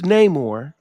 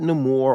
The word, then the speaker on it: Namor: to a happy medium like Prince Namor not no more or whatever ridiculous pronunciation they made he's been Submariner since